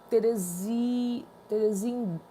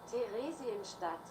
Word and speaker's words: Theresienstadt: Theresienstadt. Deixa eu ver aqui como é que pronuncia.